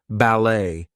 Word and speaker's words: ballet: But anyway, T is going to be silent in some words. There might be words that are borrowed from other languages, etc. So things like ballet, gourmet, we are not going to pronounce the T there.